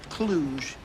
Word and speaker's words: Cluj: I believe that's pronounced Cluj.